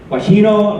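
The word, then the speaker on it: Gioachino: Overture so uh uh I learned how to pronounce this guajino Rossini what went from 1792 to 1868.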